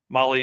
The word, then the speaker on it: Mahle: And for the podcast listeners, Molly is spelled Mahle.